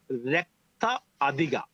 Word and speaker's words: Raktha Athika: I named it Raktha Athika. Raktha Raktha Athika? Athika.